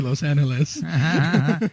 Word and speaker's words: Los Angeles: And I had to respond with LA because I know I don't say Los Angeles. Yes, the G is supposed to be an H, right?